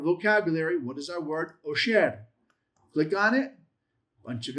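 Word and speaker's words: עֹשֶׁר: Osher. Click on it. Bunch of information given to us. You can have it pronounced for you. Strong's H 6239 Osher Osher Yay!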